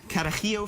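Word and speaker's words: Carajillo: called a Kio 43 again kakio 43 Kio you have to say it like that it gets easier after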